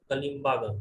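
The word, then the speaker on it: कालीबंगा: Gangapur district of Rajasthan, बोलते हैं pronunciation होना चाहिए कलिम्बागन, ठीक है ना।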